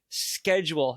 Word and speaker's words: schedule: Schedule. Is that a K? No, it's a CH.